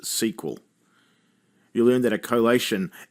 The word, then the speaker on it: SQL: video you learn that the SQL in MySQL or in an SQL file is often pronounced SQL you learn that a